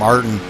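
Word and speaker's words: Ayrton: had to ask uh arton Ellis I think that's how you pronounce his name arton it's a y r t o n not uh not familiar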